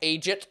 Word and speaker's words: eejit: He's a Buck Eejit, so he is. Now, buck is the word chevreuil, and Eejit is just the Northern Irish way of pronouncing the word idiot.